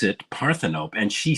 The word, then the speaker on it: Parthenope: I mean parthenope what is that I mean paropy like a maybe a Greek goddess or God or something actually they pronounce it parthenope and she said it's actually it's it turns